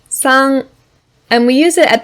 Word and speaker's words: 山: the first one here yama which is red yama as you might remember this word means mountain